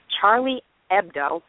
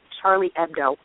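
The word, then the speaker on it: Charlie Hebdo: uh a satirical magazine in Paris called Cher Charlie ebdo and I actually had to listen to that twice to make sure I pronounced it properly because when something happens like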